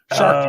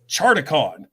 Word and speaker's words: Sharkticon: So it was the whole SharkTicon. Oh, okay. Thing. Gotcha. But I kept pronouncing it ShardaCon.